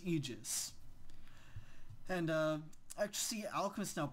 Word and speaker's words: Aegis: immortal again it's you just not ages I know it's it's weird but it's pronounced Aegis and uh actually Alchemist